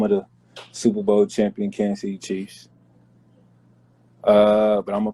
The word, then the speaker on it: Kansas City: from kansas city pronounce it kansas city we don't pronounce the sas that's if a [